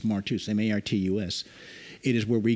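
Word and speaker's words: μάρτυς: word in the new testament the word is pronounced martus you shall be witnesses unto me it's martus m-a-r-t-u-s it is where we get our english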